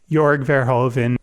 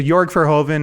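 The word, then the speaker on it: Jörg Verhoeven: copperheads on elcap like yeah how do you pronounce is it verog who yorg verhoven yeah so yorg verhoven and Barbara zangl babsy I mean they they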